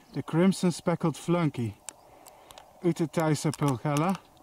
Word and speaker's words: pulchella: In action, the crimson speckled flunky, Utetaisa pulchella, or I should say pulchella, that's the Latin pronunciation.